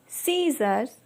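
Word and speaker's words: scissors: word है हमारा sceptre सीजर्स science इस तरह के वर्ड्स में हमारा जो लेटर सी होता है वह साइलेंट होता है अब इसके पीछे का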